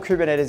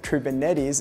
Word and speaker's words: Kubernetes: it has to offer no prior containers or kubernetes experience is required this course really will take